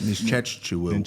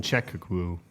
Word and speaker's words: Nzechukwu: I'm going You got Kennedy the head that Nzechukwu.